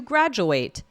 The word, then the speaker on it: graduate: So again, that's the shorter sound, the it. And now let's move on to the verb. She's going to graduate. Oh, wait, sorry. Graduate is the verb, the ATE.